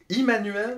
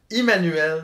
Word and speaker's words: Immanuel: certain comment le prononcer manuel Kant Immanuel ouais mais c'est allemand c'est Emmanuel allemand Immanuel ouamo vou parfait donc